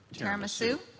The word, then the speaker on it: tiramisu: Renee, do you prefer pudding or tiramisu? I think that's how you say it. Tiramisu?